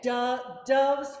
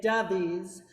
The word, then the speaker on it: doves: Unless you're Brazilian, and because Brazilians would say dovies, right? They would make that extra syllable there, but it's not, right?